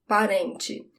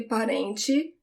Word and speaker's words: parente: Parente, parente. In different places in Brazil, the sound of the TE when it's the last syllable of the word is different. So it could be parente, it could be parente, it could be parente.